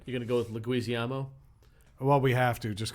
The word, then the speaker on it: Leguizamo: It's phonetic. It's Leguizamo. You added 6 eyes.